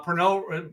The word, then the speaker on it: Pernod: but perno is uh perno it's it's purchased distributed here in the united states but it is a product of france it is french it is french that's why we don't pronounce the d yeah exactly so uh